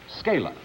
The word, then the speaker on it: Scala: Scala, is that the way you pronounce it? That's right, Scala.